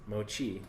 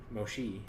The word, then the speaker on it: mochi: So it's mochi, not mochi. It would be an S if it was mochi.